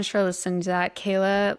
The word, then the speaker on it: Kela: And my name is Kayla, so it's K L A and then. So, it's spelled a little bit differently, but if you look that up, you can definitely find all my things.